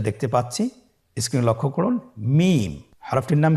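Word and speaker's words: ميم: মিম। হরফটির নাম কি? মিম। মিম হরফটি উচ্চারণের ক্ষেত্রে অবশ্যই বারিক হবে, পাতলা হবে এবং 3 আলিফ টেনে উচ্চারণ করতে হবে।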